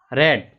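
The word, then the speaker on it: read: A book is being रेड। देखें रीड first form होती है, स्पेलिंग वही होती है, बस प्रोनाउंसिएशन चेंज हो जाता है।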